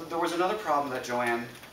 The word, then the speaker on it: Joanne: was another problem that Joanne two syllables Joanne Joanna three syllables that that cost extra